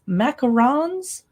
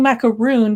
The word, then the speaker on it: macaron: out February 28 it's macarons macaron heaven and I'm not saying macaroon because a macaroon is the coconut version and it's spelled differently this is the French macaron the macaron cookies and